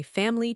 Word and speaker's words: family: I learned family 3 syllables, but native speakers say family 2 syllables.